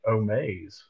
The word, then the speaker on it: Omaze: ] that definition up Omas is a company for fundraising actually I probably mispronounced it omaze yeah I still don't